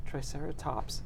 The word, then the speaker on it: Triceratops: me say this right Triceratops skull yes I want to put an extra syllable in there for some reason but what's cool about